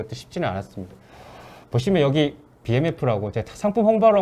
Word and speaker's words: BMF: 보시면 여기 BMF라고 제가 상품 홍보하러 온 건 아니고요. 여기가 이제 되게 잘 만드는 고급 뭐 스테인리스 스킬류를 만드는 WMF 아니고 BMF라고 읽으셔야 된다고 하더라고요.